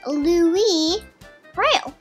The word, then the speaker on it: Louis Braille: that's really helpful yeah because an actual name is not the least Braille that's Louie Braille and Papa it's not